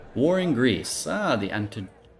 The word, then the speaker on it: Antigonid: Ah, the Antigonid. I always thought it was like Antigonian or something, but when you hear it on the documentaries, they pronounce it so much more smoothly than we ever could.